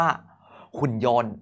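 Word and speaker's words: หุ่นยนต์: ว่า หุ่น ยนต์ โอเค อ่าน ว่า หุ่น ยนต์ สะกด ครับ ห อุ น หุน ห ไม้ เอก หุ่น ยอ โอะ นอ โยน รวม เป็น หุ่น ยนต์ สังเกต นะ ว่า เรา ไม่ พูด ถึง ต เต่า เลย เพราะ มัน เป็น พยัญชนะ ที่ ไม่ ออก เสียง คำ ต่อ ไป ด้าน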